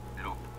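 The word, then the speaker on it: loupe: pronounce that hey Google how do you pronounce l o u p e here are the top search results welcome to how to pronounce in today's video we'll be focusing on a new word that you might find challenging or intriguing so let's dive into today's word Loop which means a small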